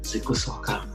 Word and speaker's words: Zikusooka: Who is Jacob Zikusooka? Is that how you pronounce your last name?